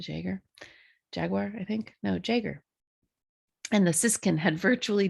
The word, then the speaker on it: jaeger: the yeah the jager jaguar i think no jaeger and the siskin had virtually disappeared by the way jaeger is spelled g-a-e-g-e-r if you want to look that